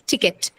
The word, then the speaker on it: ticket: stress on it uh the first syllable it has the stress and tells also the first sound in that stress syllable so both the conditions satisfied hence ticket it's uh next one testify